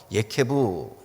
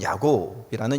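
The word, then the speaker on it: יעקב: 경쟁심이 아주 보통이 아닌 아이다라는 뜻에서 예케부, 그래서 그것을 한국식으로 발음하면 야곱이라는 이름을 그에게 지어 주었습니다.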